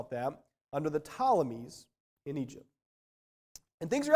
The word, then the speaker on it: Ptolemies: israel one was the ptolemies that's spelt with a p uh riddle me that starts with the p the ptolemies that was